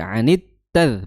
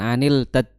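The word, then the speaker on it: عن التذكرة: idghamhir ya di sini langsung masuk ya atau bisa dikatakan juga alif lam syamsiyah ya syamsiyah jadi anit tad bukan anil tad ya an tazkirati m'ridin ya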